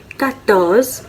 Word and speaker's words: quatorze: 14 को कहते हैं quatorze.